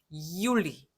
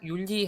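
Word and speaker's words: Juli: 이올리 이렇게 약간 긁어준단 말이죠. 이올리 그냥 율리 하지 말고 이올리 이렇게 발음해 주세요.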